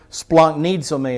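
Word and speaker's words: σπλαγχνίζομαι: Splanknizome is how you'd pronounce it.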